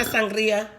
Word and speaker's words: sangria: I like my sangria. Sangria, roll your R.